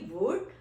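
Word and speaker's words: would: कैन not pronounce L for example vote व ओ यू एल दी वुड अब आप इसमें देखें हमारा जो वर्ड है वो वर्ल्ड नहीं है व ओ यू एल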